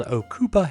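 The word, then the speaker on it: Ocopa: Another great item for the overlander on your list would be these things called Okupa hand warmers, and that's spelled O C O P A.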